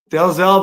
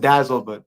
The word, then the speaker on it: Dalzell: Dalzell, buddy. Yes, sir. I like to pronounce all the letters. Apparently, it was a Scottish name, and some Okay. pronounced it Dazzle, Oh, Dazzle?